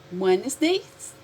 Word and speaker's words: Wednesdays: Wednesdays, esse Szinho aqui quer dizer todas as quartas. And when you say this word, you don't pronounce this letter G. Não fala o D. Wednesdays.